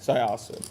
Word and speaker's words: Syosset: Syosset.